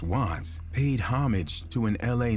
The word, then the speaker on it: wvttz: The name wvttz, pronounced Watts, paid homage to an LA neighborhood, while CHII, pronounced C-High, signified his affiliation with the Crips, a notorious street gang.